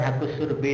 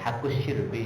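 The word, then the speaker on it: haqqus syirbi: Saya punya tanah pertanian, di situ ada saluran air, kemudian ada bukan hakus surbi nih ya, hakus syirbi bacanya, hakus syirbi.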